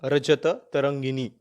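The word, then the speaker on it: राजतरंगिणी: Last time शायद मैंने इसको थोड़ा गलत प्रोनाउंस कर दिया था, तो इसका सही प्रोनाउंसिएशन जो है, खलनास की जो बुक थी जिसके बारे में कश्मीर के बारे में लिखा गया था, जो बुक का नाम था वो था रजत तरंगिनी।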